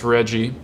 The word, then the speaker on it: RGGI: So Rggi, as it's commonly called, Rggi, but it's pronounced Rggi, it's the first cap and trade program in the United States specifically targeting greenhouse gas emissions.